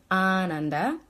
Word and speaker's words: Ananda: is like a bliss experience so the correct pronunciation is Ananda but often this word gets pronounced Ananda and